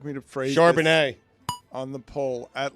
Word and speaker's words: Charbonnet: I feel fancy every time I say the name Zach Charbonneau. Put it on the poll, please, at Le Batard Show. Did you say it right? Charbonnet. Charbonnet. That's right. Do Yeah.